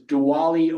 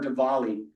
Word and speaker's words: Diwali: And this is probably the most popular of the holidays in Hinduism, which is Diwali or Diwali. I've heard it pronounced both ways.